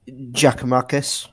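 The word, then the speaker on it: Giakoumakis: Hang on, Giacomakis.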